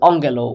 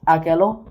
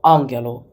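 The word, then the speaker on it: ἀγγέλλω: are very important and a double gas is when they two consecutive commas in the word you don't pronounce it as G but as n sorry an example is Angelo which means I speak you might pronounce it as ago no Angelo just some strange rule that the Greeks made up oh yeah and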